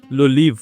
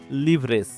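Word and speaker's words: les livres: জিনিস মাথায় রাখতে হবে ফরাসিতে বেশিরভাগ ক্ষেত্রেই কখনোই শেষের বর্ণটা উচ্চারিত হয় না যেমন ইংলিশ যদি আমরা এটাকে উচ্চারণ করতাম লিভরেস বাট এইটা কখনোই না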